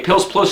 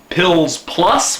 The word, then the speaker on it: Pils Plus: It's made here in Serbia, and it's pronounced, it looks like Pils Plus, we would say in English. Serbian, they say Pils Plus, because they say U in English, we would say and they say U, like Pils Plus.